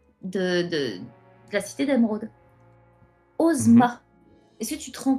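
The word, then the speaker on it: Ozma: Ah mais ça faitma O M A et le S en japonais se prononce Z. Osma. Donc si vous connaissez pas Osma, moi je peux vous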